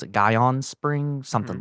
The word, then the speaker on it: Gihon: water from the I don't know how to pronounce it, Guyon Spring, Hmm. something like that. Sure. It's okay. Um, The just Gihon, yeah.